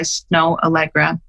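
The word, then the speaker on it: Snoh Aalegra: love and it's called fool for you by snow allegra have you ever heard of her no it's spelled snoh snow allegra and she sounds like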